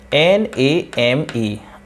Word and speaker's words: name: For example NAME, अब इस ई का हम कोई भी प्रोनाउंस नहीं करेंगे, इसको हम उच्चारण में नहीं लाएंगे, तो सिर्फ बचेगा NAM।